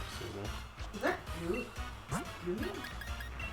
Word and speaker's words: Goomy: Goomy? Gooey? Goomy.